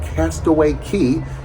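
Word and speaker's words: Castaway Cay: now and check out Castaway Key spelled c a y but it's pronounced key and it's Disney's Island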